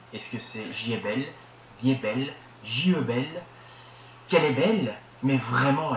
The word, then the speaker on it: Giebel: ces annéeslà à Paris donc ils l'ont un peu francisé c'estàd la façon de le prononcer ils ont décidé de le prononcer jbelle ça faisait plus français entre guillemets plus qu'allemand quoi et donc c'est resté comme ça voilà moi j'ai toujours entendu jbelle et du coup il se prononce comme ça alors qu'à la base